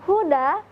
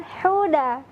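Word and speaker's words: هدى: di dalam pembacaan kata Huda dan demikian kata Huda hanya berasal dari bagian pangkal tenggorokan hudallilmuttaqin khuda hati-hati jangan sampai membaca hanya menjadi hello hello Karena beda ya antara pelafalan Huda dengan Heda kalimat huda-huda yang terdapat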